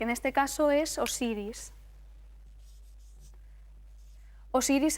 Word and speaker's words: Osiris: Osiris es el nombre griego, el nombre que le dieron los griegos. En egipcio realmente se pronunciaría como usir o asirm y nos da los